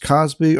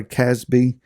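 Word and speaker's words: Cozbi: who was struck and it can be pronounced Cosby or Casby the daughter of Shore he was ahead head of the people of a father's house in Midium.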